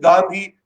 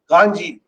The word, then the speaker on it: Gandhi: I think more through guesswork that this must be Gandhi and I pronounced it Gandhi which of course my Japanese colleague said no you have to pronounce it Ganji and then you can